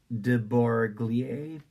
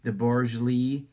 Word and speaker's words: de Broglie: It's a scientist's name, lowercase de, as in of, and then the last name Brogie, lie, de Broglie. In Space-Time, wrote de Broglie, everything which for each